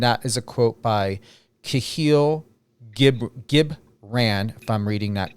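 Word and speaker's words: Kahlil Gibran: And that is a quote by Kahil Gibran, if I'm reading that correctly or pronouncing that correctly.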